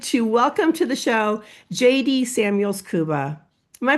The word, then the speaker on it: Jaydi Samuels Kuba: So so excited to welcome to the show JD Samuels Kuba. Am I pronouncing that correctly?